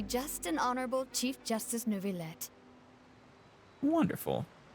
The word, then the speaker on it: Neuvillette: and honorable Chief Justice Neuvillette. Wonderful. Oh, she actually pronounced it with the L, so Neuvillette.